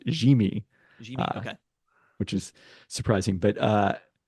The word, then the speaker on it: Yimi: The fact that they traded for Garcia, whose first name is apparently pronounced Jimmy, okay, which is surprising, but that's the indicator,